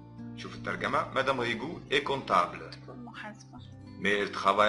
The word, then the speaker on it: comptable: Madame Rigou est comptable. ناخد بالنا من البي لا تنطق.